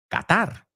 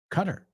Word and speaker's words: Qatar: So realmente oí por primera vez cómo se pronuncia esto en español. Qatar, right? But in English, it's Qatar. Qatar.